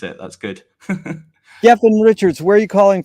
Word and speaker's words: Gethin: That is how you pronounce it. That's good. Gethin Richards, where are you calling from?